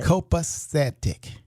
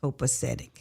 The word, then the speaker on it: copacetic: Copacetic. Copacetic.